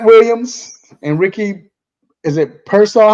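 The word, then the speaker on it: Pearsall: Um, I wanted to ask you first, Trent Williams and Ricky, is it Persaw? How you say his name? Pieraw. Pers. Pier. Pier.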